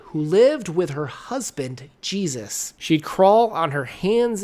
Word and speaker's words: Jesus: Her husband, Jesus, and it's pronounced Jesus, wanted to use the